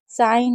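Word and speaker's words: sign: 27 rule में है कि जब भी जीएन साथ में होगा तो जी को नहीं पढ़ेंगे। जैसे नेट है, नोम है, नो है, साइन है, डिज़ाइन है, रेन है, फॉरेन है, अलाइन है, अज़ाइन है।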